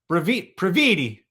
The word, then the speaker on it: Previte: The great Previte, rhymes with graffiti.